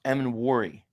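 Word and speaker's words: Emmanwori: thank God yeah I the safety you like is pronounced em and warry all right em and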